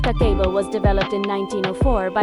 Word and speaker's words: kakeibo: Kakebo, pronounced kako, was developed in 1904 by Hanimuk, Japan's first female journalist and later a publisher of a women's magazine.